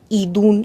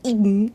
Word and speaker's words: Idunn: Bueno, se dice que Idun, me cuesta un poco pronunciarlo porque es como que el nombre no es Idun, sino que es Idun, y como que tenga la entonación en la I, me está matando la lengua.